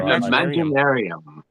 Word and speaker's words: Imaginaerum: I don't know how the fuck you pronounce that thing. It's just like whatever. Imaginarium.